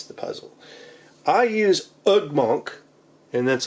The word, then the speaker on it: Ugmonk: the puzzle I use ugmonk and that's like ug m o n k kind of like it sounds right ug monk I think that's how